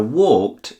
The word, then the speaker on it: walked: Now, walked stands out from the others. Walked. The end sounds like t. This is because the K at the end of walk is what's